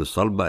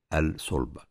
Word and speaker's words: الصلبة: في بعض الناس بتقول الصلبة، إنما النطق الصحيح هي الصلبة.